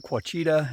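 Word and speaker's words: Ouachita: friday may 27th and i am here in quachita that's how you say it quachita national forest and um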